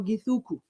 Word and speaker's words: Githuku: You pronounce it in English. So Githuku. Githuku.